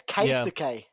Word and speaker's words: Keisuke: Kisuke. It's Keisuke. Yeah, it's Keisuke. So I can help my new son, son.